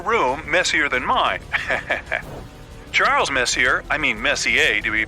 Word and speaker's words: Messier: well young lady the m stands for Messier pronounce Messier not Messier as in is your room messier than mine Charles Messier I mean Messier to be precise was a